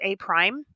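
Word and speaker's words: A′: and this one is a prime this is pronounced a prime that tells me I'm moving from figure one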